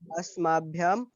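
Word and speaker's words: अस्मभ्यम्: तो जैसे अभी तुम अस्माभ्यम बोल रहे थे, अस्मभ्यम।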